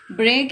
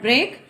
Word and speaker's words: break: English language, we speak why is break not rhyme with freak. Break is not rhyme with freak.